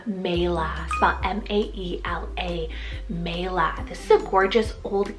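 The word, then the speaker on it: Maela: future I also love the name Mela m-a-e-l-a Mela this is a gorgeous old Celtic rooted name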